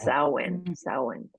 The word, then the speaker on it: Samhain: in a little brief history, and it's called Samhain. I mean, it's pronounced Samhain.